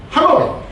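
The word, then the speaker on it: Hà Nội: 이게 하가 허허허 내처럼 한자의 하에 예 내자가네 허네 이게 중국어 발음 허네이고 어 베트남어는 하노이 하노이 이게 베트남 발언입니다.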